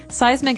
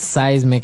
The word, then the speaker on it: seismic: So that's seismic activity. It's pronounced seismic, right? Seismic. That's Seismic. correct.